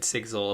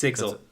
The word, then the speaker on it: Sigzil: And with this, Kaladin starts to converse with Rock and Sigzil about why do the Parshendi fight?